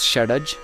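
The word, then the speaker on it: Shadja: uh the seven Saras In hindustani classical music is pronounced like this sa is shaj re is rishab G is gandhar ma is madham PA is Pancham da is D ni is nishad so is are the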